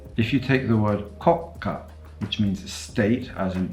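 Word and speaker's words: 国家: take that word and pronounce it as koka, without the small tsu, without the gemination, nobody will understand you.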